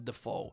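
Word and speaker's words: Dafoe: It's not William Defo, GM. It's William Defoe.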